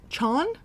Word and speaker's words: Chaon: short story collection by Dan rhymes with lawn Chon Dan Chan we'll go with that um one of my friends literally put in our Discord she's like apparently his last name rhymes with lawn and I was like I was